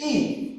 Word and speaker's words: Yi: So, this word is Yi. It's with a Y, but it's really just like letter E if we're spelling it phonetic phonetically.